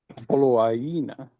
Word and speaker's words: Poloaina: Ole mea lea na poloaina. Poloaina. The double I, how do you pronounce that? Exactly how you said it.